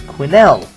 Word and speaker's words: Quinnell: Anywho, another comment from Euphoric saying that my last name, Quinnell, is totally pronounced with the emphasis on the L. If it was spelled with one L at the end, I'd say otherwise. But it is not. It's 2 L's, so it's Quinnell.